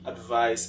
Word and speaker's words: advise: The difference between the pronunciation, advise as a verb that has a Z sound, and advise as a noun that has a S sound.